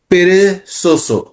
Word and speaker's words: perezoso: আবার শেষ line, es un gato muy perezoso. এর পেরেজোসো উচ্চারণ হবে নাকি? সোসো, মানে পেরেজোসো।